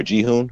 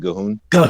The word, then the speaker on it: G'huun: blood of g'huun or jihoon however you want to pronounce it gohun and gahoon thank you yes and